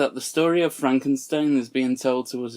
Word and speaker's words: Frankenstein: to add to this in the movie young frankenstein sorry sorry i know it's pronounced frankenstein my name it's pronounced frankenstein in